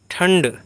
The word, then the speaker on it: ठंड: हैं वह है न तो इसीलिए ठंड में यह मूर्धन्य ण का उच्चारण यहां पर होता है ण अब इसमें भी बहुत